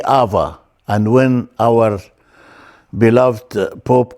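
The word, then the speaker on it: ⲁⲃⲁ: Because we pronounce it in Coptic, we read the Vita as V. So we say Ava.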